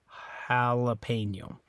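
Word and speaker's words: jalapeño: but in English Hala so it's like a ah instead of ah ah uh jalapeno right so anyway that's why it sounds a little different so Jalapeno in Spanish Jalapeno in English okay all right uh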